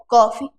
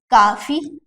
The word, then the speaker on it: कॉफी: लिखोगे आप तो काफी, कई लोग बोलते हैं ना काफी पीना है, काफी काफी, या फिर काफी पे चलोगे क्या, गलत बात है, ये उच्चारण ही आपका गलत है ना, ऐसे में आपका इंप्रेशन खराब हो सकता है। काफी नहीं होता, काफी तो पर्याप्त है, बोलते काफी है, ये क्या है कॉफी, कॉफी ओ आ रहा